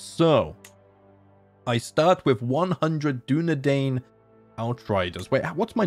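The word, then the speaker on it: Dúnedain: in a previous series I always pronounced dunadan as dunan and I didn't believe someone when they corrected that that if that was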